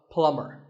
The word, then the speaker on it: plumber: call him a plumber not a plumber the bee is silent so plumber in fact in many